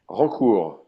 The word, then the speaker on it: Rancourt: How do you pronounce his name correctly? Rancourt, Holcool.